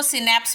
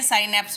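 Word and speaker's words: synapse: अब कुछ लोग उसको सिनेप्स भी पढ़ सकते हैं, साइनेप्स भी पढ़ सकते हैं।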